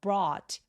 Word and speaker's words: brought: brought back 할 때 GH는 묵음입니다.